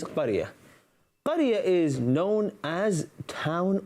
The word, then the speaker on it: قرية: The word is qaryah. The pronunciation is qaryah.